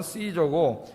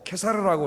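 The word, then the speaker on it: Caesar: 영어 발음으로는 시저고, 케사르라고 우리가 보통 그렇게 하는데, 대단한 사람이죠.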